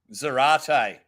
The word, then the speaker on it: Zarate: Zarate. Rhymes with karate.